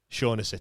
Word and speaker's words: Shaughnessy: Hugh says it's pronounced Shaughnessy to me.